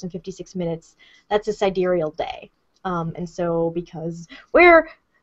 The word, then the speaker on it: sidereal: How do you pronounce sidereal? Sidereal.